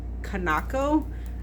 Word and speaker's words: Kanako: snagged it, and that is The World of Kanako. That's how you pronounce it.